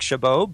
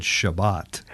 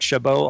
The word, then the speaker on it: Chabot: your name I said Shabbat you know what everyone mispronounces my name is French and it's got that bizarre ending where the tea silence